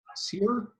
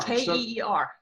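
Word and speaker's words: Ciar: How do you say your name? Sear? Care? Care. I don't know. You just got new glasses today. You should be able to read that. No, it's C-I-A-R. K-E-E-R.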